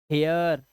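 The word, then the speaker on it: hair: लिखना सीख जाओगे आप जब किसी वर्ड में ए आई के बाद आर आ जाए अब ए आई के बाद आर आ गया तो उसका उच्चारण भी ए आ ही करना है आपको जैसे देखो ए आई के बाद आर तो चेयर हेयर ए आ रहा है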